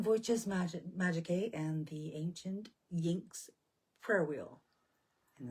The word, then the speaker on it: iynx: the goddess using Voices Magicae and the ancient Yinks prayer wheel. And it's spelled IYNX.